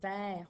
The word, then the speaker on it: vert: Alors, ton E ici, il se prononce E, mais il n'a pas d'accent. C'est parce qu'il y a deux consonnes à la suite de ton E. C'est pour ça qu'il se prononce E. Et comme dans le mot petit, à la fin du mot vert, il y a un T qui est muet au masculin, puisqu'il n'a pas d'autres